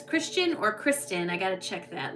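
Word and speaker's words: Christin: And then it's Christian or Kristen. I got to check that. Let me look. Um, I had a huge epiphany. Kristen.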